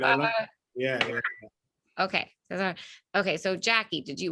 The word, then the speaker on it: Cesar: I was saying Cesar. No, you're good. You're good. I love it. Yeah. Okay. Cesar.